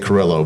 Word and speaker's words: Carrillo: Cuz if now you have to roll the Rs and then the L and it becomes and it's it's okay.